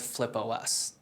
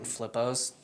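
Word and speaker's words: FlipOS: is just like then people weren't saying it right they were saying flippos and Osmond's like operating system right that's very nerd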